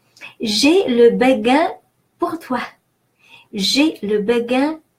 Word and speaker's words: béguin: Now the E in this word is pronounced E because it has an accent.